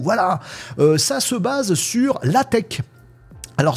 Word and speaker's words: LaTeX: Voilà, ça se base sur la tech. Alors, ça s'écrit latex. Bon, on fait comme on veut mais il paraît que ça se dit la tech.